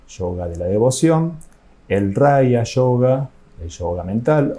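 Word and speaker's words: raja yoga: o yoga mental y en sánscrito se pronuncia raya yoga vamos a estudiar un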